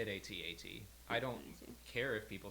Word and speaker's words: AT-AT: I say it AT-AT. I don't care if people say AT-AT at all, but ATST, like ATTE, they're all pronounced that way, so why would you not pronounce it AT-AT as well?